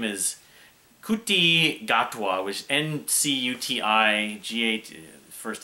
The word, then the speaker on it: Ncuti Gatwa: His name is NCUTI GATWA, which NCUTI first name.